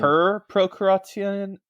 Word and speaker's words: per procurationem: Per procurationem, right? Yes. Is it pro or is it per? Per. Per.